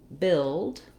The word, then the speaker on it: build: and as you see, the words build, as in to build a building, and build, as in I was billed for the charges, have the same pronunciation. So two different spellings, but they both have the exact same sounds. So in this case, the UI is an unusual spelling for the I vowel.